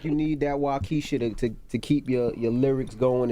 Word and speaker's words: Waukesha: Now you got a song on the album called Waukesha. Am I pronouncing it right?